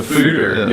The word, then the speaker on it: foudre: It's a foudre. Yeah. So it's a Belgian or French word, so obviously you don't pronounce all the letters. There's only 3 letters you pronounce.